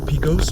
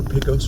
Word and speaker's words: Pecos: This light up here is Pecos or Pecos Road, depending upon how you pronounce it. I've heard both ways. I've had comments in the comment section tell me both ways. I will say it both ways for everyone.